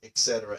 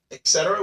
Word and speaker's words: et cetera: Etc. we see it all the time. This is one of those ones that you cannot pronounce as ETC. You have to say the full word etc.